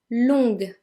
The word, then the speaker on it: longue: However, in the feminine, it is pronounced because long becomes longue. Longue. We add a U and an E. And the reason we add the U is for exactly the same reason as we had a U in fatigué. It is simply for pronunciation purposes. Because without the U, longue would be pronounced longe instead.